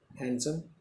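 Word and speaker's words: handsome: एंड हैंडसम, और खूबसूरत है, हैंडसम बोलेंगे, टी को साइलेंट रखते हैं हम, कोई कैसे आदमी है।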